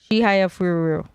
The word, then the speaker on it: Chihayafuru: Yeah, you missed one syllable. What was it? Chihayafuru. Chihayafuru.